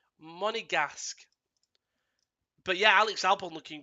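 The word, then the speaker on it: Monégasque: Monegasque is how it's pronounced. Monegasque.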